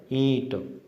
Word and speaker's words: ईंट: केवल बिंदु ही आएगा, लेकिन उसका उच्चारण है वो चंद्र बिंदु की तरह होगा, ईंट, न कि ईंट। चंद्र बिंदु की तरह उच्चारण करना है, ईंट।